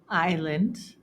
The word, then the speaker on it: island: And the last exception is that sometimes S is silent after the letter I. For example, the following words: debris, aisle, aisle again with a different spelling and meaning, island, Illinois.